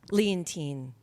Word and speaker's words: Leontyne: wow that's a lot most people don't say my name right leontyne French old-fashioned name hi happy Valentine's Day